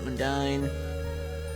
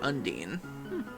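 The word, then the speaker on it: Undyne: Ironically, it's the un part I I say differently. I say unin the same way you say undo. Okay. Undine.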